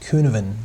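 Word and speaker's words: Cynefin: And this one, so it's spelled that way, but I think it's pronounced Kuhneven, the Kuhneven framework.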